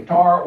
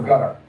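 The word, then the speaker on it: Qatar: Now, you can pronounce that country Qar or Gutter. Both are used.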